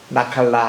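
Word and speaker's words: נחלה: 나칼라 할 때 눈, 그리고 케이트, 라메드, 헤이 이래서 여기 이제 감에서 다 붙여서 나칼라라고 발음하는 이 단어가 신명기의 키워드예요.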